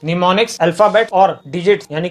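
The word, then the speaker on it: mnemonics: योग्य बात है कि यहां पर इसकी स्पेलिंग स्टार्ट होती है उनसे जब पीएम साइलेंट होता है इसे पढ़ा जाता है निमोनिक्स निमोनिक्स अल्फाबेट और डिजिट यानी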